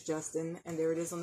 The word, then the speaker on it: Gustin: it's called Justin um I kind of pronounce it Gustin but I think it is Justin and there it is